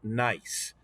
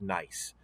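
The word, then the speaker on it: gneiss: nice rock it's it's pronounced nice even though it starts with a g it g-n-e-i-s-s is pronounced nice so nice rocks are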